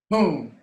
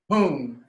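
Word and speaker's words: ཧཱུྃ: It is pronounced Ha, U, M, Hung, or in some dialects in Tibet, Hung, H-U-N-G.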